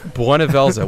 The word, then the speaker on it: Bhunivelze: the most useful so very first form of buela which is how you pronounce that because they say it over and